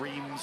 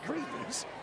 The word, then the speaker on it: Reims: So the French border, kind of Reims, Champagne country.